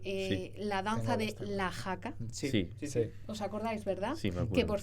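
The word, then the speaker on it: haka: Y bueno, cantó y bailó porque eh la danza de la jaca, ¿os acordáis, verdad? Que por cierto se escribe h a k a pero se dice ja.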